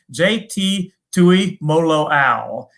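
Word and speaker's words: J.T. Tuimoloau: JT Tui Moloau.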